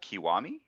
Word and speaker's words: Kiwami: just started playing uh kiwami is how you pronounce it it's like the remake